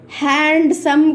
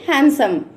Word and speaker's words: handsome: Like handsome. Handsome కాదు pronounce చేయాల్సింది. ఎలా ప్రొనౌన్స్ చేయాలి? హ్యాండ్సమ్. D is silent here.